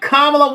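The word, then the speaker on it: Kamala: to him and actually said her name I'm kamla Harris because as has been said on the campaign Trail Donald was you know mispronouncing her name I would say uh in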